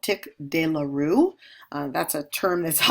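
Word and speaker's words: tic douloureux: Trigeminal neuralgia, it's also called tick dearoo. Uh that's a term that's often mispronounced. So tick dearoo.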